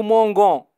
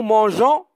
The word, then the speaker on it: mangeons: eu un thé attention les verbes angers ge est reprennent un e après le gie devant a et o c'est une question de prononciation nous mangon sans eux et nous mangeons avec eux dans pour obtenir le